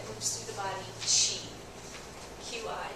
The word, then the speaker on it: qi: QI, that's pronounced qi in traditional Chinese medicine.